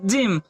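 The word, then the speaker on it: gym: Same उसी प्रकार जी वाई एम, जी के बाद क्या है हमारा, वाई है, तब यहाँ जी की ध्वनि क्या निकलेगी, ज। तो इसे हम लोग क्या पढ़ेंगे, जिम।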